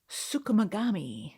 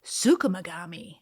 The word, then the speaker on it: Tsukumogami: It was inspired by the Japanese folklore of tsukumogami. No. Hey, what kind of belt do you have? Canvas. Not Mr. Miyagi. Tsukumogami.